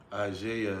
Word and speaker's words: Isaiah: th teach Sam Buck how to say Isaiah like Isaiah Thomas how did I say